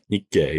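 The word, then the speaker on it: Nikkei: Like from I think I looked up the index, the Nikay, is that how you pronounce it? Nikay.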